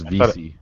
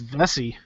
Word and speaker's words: Vesey: That's how you pronounce it? Yeah, it's Veesy. I thought it was Vesey.